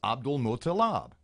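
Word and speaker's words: Abdulmutallab: So the last three syllables of his name are Mutalab. Then the first three are Abdul, so it's Abdul Mutalab.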